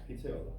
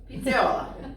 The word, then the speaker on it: pizzaiola: Pizzaiola. Oh, okay. Just say it fast. Pizzaiola.